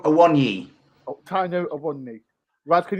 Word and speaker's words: Awoniyi: It sounds like Taiwo I want you.